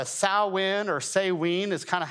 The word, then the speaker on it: Samhain: The Druids had this festival called Samhain, or Samhain is kind of how it was pronounced. It looks like Samhain, but that's actually not how it's pronounced.